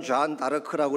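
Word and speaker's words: Jeanne d'Arc: 불란스식으로는 존 다르크라고 이렇게 발음을 하지만 영어식으로는 조앤 오브 아크예요.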